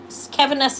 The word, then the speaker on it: Caviness: Keviness is spelled Caviness.